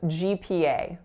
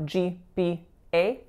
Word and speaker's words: GPA: we have GPA GPA so there are three vowels in this word which of course stands for grade point average and listen to the vowels here GPA so all of them are moving they're not pure vowels they're not GPA which I hear a lot so make sure you diphthong guys those vowels pretend